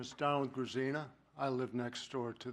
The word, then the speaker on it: Grzina: Next person is Donald Grisina, and I probably just mispronounced that altogether. Yes, my name is Donald Grisina.